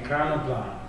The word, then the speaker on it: Ekranoplan: And although it has two names, really, the Caspian Seamaster, and it's the Ekranoplan? Ekranoplan. Hey, I was pretty close. Right, Russian pronunciation. Ekranoplan, which is a...